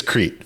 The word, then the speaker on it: Crete: It's Crete for the pronunciation. Crete, yes, Crete.